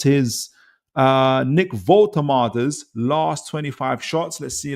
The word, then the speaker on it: Woltemade: Gary says it's pronounced Woltemade.